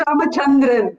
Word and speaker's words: Ramachandran: It is Ramachandran.